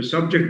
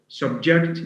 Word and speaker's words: subject: Simply by shifting stress from one syllable to another, we get a totally different meaning. So subject means موضوع, subject means يخضع.